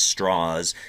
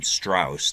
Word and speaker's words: Strauss: Robert Oppenheimer and uh Lewis straws pronounced his name that way so um we're gonna we're going to pronounce his name as straws even though I think it probably looks like it says um Strauss to most people um so oh I